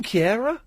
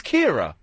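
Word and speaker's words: Keira: She's She's She She's Is her name Kiara? Yeah, it's not Ki. It's not Kiara. It's Kira. No, it's Kiara. You can't even pronounce Maybe you're thinking of someone different because her name's Kira. No, it's Kiara Nightly. Okay, if you say so. But that's how you pronounce it.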